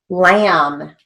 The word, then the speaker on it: lamb: rum r u m lamb l-a-m again we've got a silent b there when it's spelled in english but we write it phonetically lam beam now notice that